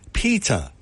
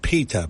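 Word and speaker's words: Petr: his name is pronounced Peta remember that Betty Davis movie where she said peta peta peta well that's it Peta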